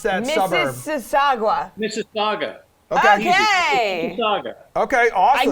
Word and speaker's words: Mississauga: Paul, how do you pronounce that suburb? Mississauga.